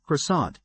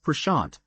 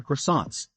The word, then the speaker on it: croissant: It all began when content creator Aush Sopra humorously mispronounced Croissant as pashant in a viral video, capturing the attention of millions.